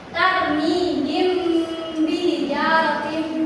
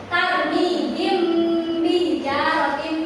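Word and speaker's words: ترميهم بحجارة: Nah, cara bacanya itu samar di bibir. Contohnya tarmihim bijaratim min sijil. Nah, jadi si mim itu, mim sukun tadi itu dibaca tapi seperti tidak dibaca. Nanti kita membacanya masuk ke huruf ba-nya. Gini ya, ibu sekali, kalian sekali.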